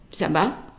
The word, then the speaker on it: ça va: And we would say just ça va, and the answer ça va. So if we take a look at the pronunciation, the C with that CD ender is always pronounced as an S sound.